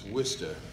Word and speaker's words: Worcester: know this whole drill your town is not pronounced like it's spelled so people are trying to figure out where worchester is you know the whole time and when you say well it's wista and they go you